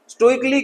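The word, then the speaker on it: stoically: जैसे हम स्टोइकली going there, मैं बिना इच्छा बिना मर्जी के वहां जा रहा हूं।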